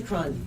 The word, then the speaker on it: Cron: Lisa Cron. Her last name is spelled C-R-O-N.